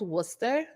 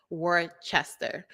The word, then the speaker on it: Worcester: so listen I live in a town called Worcester Worcester Massachusetts everyone everyone pronounces it word Chester because they could not understand how you get